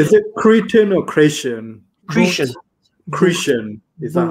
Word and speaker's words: Cretan: Cretian. Cretian. Is that how you say it? No, it's not. You don't say Cretan. No one says Cretan. Cretian.